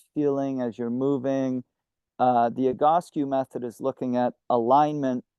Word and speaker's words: Egoscue: And what is the Egoscue method, if I pronounce that? Egoscue, yeah.